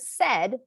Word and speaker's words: said: it sounds the word said like i said hello is what we call a sight word if you had to spell said the way it sounds you'd spell it sed but it's spelled s-a-i-d